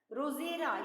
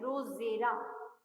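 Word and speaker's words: Drosera: That is रोजेरा. यहाँ D silent है. रोजेरा. D is silent here. D silent. Rosera.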